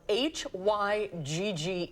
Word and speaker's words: hygge: It is a Danish word spelled H-Y-G-G-E, and it's pronounced, we'll let our guest say it.